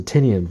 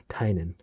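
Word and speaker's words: Tynion: the children i know a lot of people pronounce the tinian but if you look at his twitter account he basically shows that it's pronounced tainan but um yeah it's about conspiracy theories and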